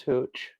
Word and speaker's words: hooch: So um, it rhymes with the word pooch, as in our dogs, but starts with the letter H.